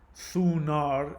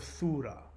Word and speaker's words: Thunar: Anyway, so we're getting closer to Thunar, which is why the Germanic version of the thunder god is pronounced Thunar instead of Thura.